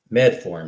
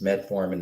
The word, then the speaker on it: metformin: don't really know why med form and i think it is metformin is the way you pronounce that so metformin is inexpensive